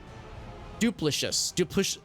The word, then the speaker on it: duplicitous: Soft C. Duplicitous. Duplicitous. There we go. We got there. We got the duplicitous with a soft C. Thank you. Yeah. Yeah, because we've been duped. Like, yeah, that makes sense. It's never a phrase I've seen before. Duplicitous. Not ish, but is.